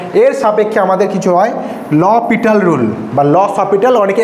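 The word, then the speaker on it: L'Hôpital: rule বাল ক্যাপিটাল অনেকে এল হসপিটাল একচুি ভুল উচ্চারণ ল পিটাল একচুি উচ্চারণ ল পিটালস রুল ঠিক আছে অনেকে বলে স্যার এল হসপিটাল রটা একবার বলে দেন তো এটা হসপিটাল না কিন্তু পিটাল ঠিক আছে অপ্লিকেশন যেটা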